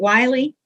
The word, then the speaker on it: Wiley: i apologize if not is it wiley it's willy but i answer to both okay well i saw